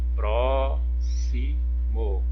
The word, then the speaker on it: próximo: Outra palavrinha que já está lá como exemplo, ó, o próximo, ó, próximo, próximo, olha, a sílaba tônica é o pró.